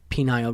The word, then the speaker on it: pineal: Like almost like pine needle.